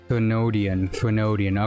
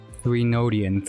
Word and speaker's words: Threnodian: I know it's a Therendian, like TH. I say th. Technically not an O. I do it like a tho instead of a the. Therenodian. I also skipped the. I think I mixed it up. There's supposed to be Reno-dian. Therenodian. Oh god, I hate that already. Thren. I skipped the middle O.